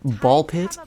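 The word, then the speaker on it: Ball x Pit: We have Ball Pit, you know, for all you Hunter x Hunter fans, you don't pronounce the X in Ball Pit.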